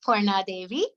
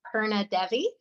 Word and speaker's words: Purna Devi: It's pronounced Purna Devi, right? But here in the Midwest, phonetically, it looks like Purna Devi.